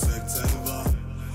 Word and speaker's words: Serce Lwa: Na zewnątrz ciekły goryl, wewnątrz serce lwa. Serce lwa, serce lwa. So it's pronounced Serce Lwa.